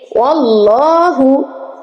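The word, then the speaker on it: وَاللّٰهُ: ওয়াল্লাহু, ওয়াল্লাহ, ওয়াল্লাহ উচ্চারণ করার সময় যেন আবার আল্লাহ না হয়ে যায়।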